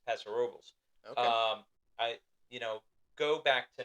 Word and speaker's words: Paso Robles: Now I'm gonna say I believe it's pronounced Paso Robles, Really? not Paso Robles. Oh, It's Paso Robles.